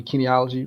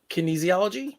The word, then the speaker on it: kinesiology: the science your body kineology what am I saying it right Kinesiology yes thank you he would be the